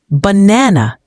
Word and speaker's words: banana: For example, in the word banana, the second syllable is stressed. banana.